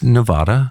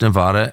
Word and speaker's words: Nevada: It's Nevada. Like Vlad. And it's Nevada.